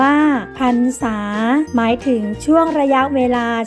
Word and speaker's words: พรรษา: เรื่อง ความ ยิน ดี พรรษา อ่าน ว่า พรรษา หมาย ถึง ช่วง ระยะ